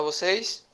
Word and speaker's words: você: Na palavra você, qual é a sílaba tônica? CIE. C e E, muito bem. Essa sílaba tônica aqui, Arthur, ela é a última.